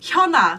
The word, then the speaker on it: Hyuna: Or like Hyuna. That's a really hard name. Hyuna. Hyuna, yeah. Hyuna, it's like Hyundai.